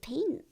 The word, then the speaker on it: peen: Peen en ui is pretty old-fashioned. And ui means onion. So this has carrots, onion, and a potato. Yeah, it's pronounced as pain, but it means carrot.